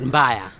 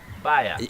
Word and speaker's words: mbaya: Bed mbaya. Baya. No, mbaya. Mbaya. Yes, mbaya.